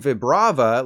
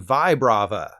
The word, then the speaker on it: Vibrava: not the middle Evolution while you've been saying Vibrava like rib cage you should have been saying Vibrava I completely forgot this